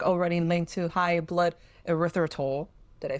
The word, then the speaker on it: erythritol: Because previous clinical work already linked to high blood erythritol.